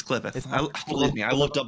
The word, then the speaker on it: Qliphoth: It is pronounced Qliphoth. Is it Qliphoth? It's Qliphoth.